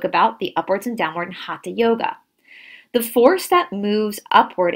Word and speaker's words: hatha: regulate the breath so hatha yoga is spelled h-a-t-h-a you hear a lot of people in the west say hatha yoga it's not half a yoga again this is a sanskrit word